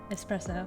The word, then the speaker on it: espresso: like strong ass who if you're saying it with an X you're wrong but like it's subtle espresso espresso yeah but not